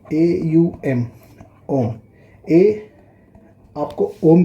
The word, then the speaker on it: ओम: ओम आपको without any effort बोलना होता है। इसको इस तरह बोलना, ओम नहीं बोलना है, आपको बोलना है पहले अ बोलना है।